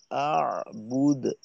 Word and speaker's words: أعبد: ওয়ালা আনতুম আবিদুনা মা আ'বুদ ولا أنتم عابدون ما أعبد বুদ এভাবে বায়ের পেশ বুদ না হয়ে আ'বুদ আ'বুদ আ'বুদ এভাবে أعبد জি আচ্ছা আচ্ছা, এইখানে